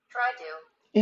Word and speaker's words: tried to: 그럼 앞에 있는 자음이 탈락이 돼요. 그것을 자음 탈락이라고 합니다. 그래서 try만 발음하고 그냥 to로 넘어가시면 돼요.